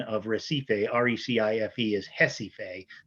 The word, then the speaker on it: Recife: of recife recife is hesife that's how the portuguese pronounce it they pronounce it with the h sound hesitate it you know